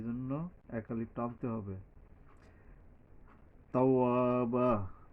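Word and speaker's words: توابا: তাওয়াবা, তাওয়াবা, এই বায়ের উপরে দুইটা জবর আছে, তবে তার আগে এই ওয়ার উচ্চারণ করার পরে এক আলিফ টানতে হবে, এখানে একটা খালি আলিফ আসছে।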